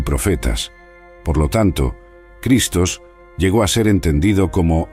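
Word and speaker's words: Χριστός: el Cristo la frase clave Yo soy el Cristo se pronuncia ego eimi J cristos el término cristos se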